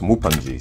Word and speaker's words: Mupanji: a mukbang about fufu so he's uh pronounced mupanji so i had this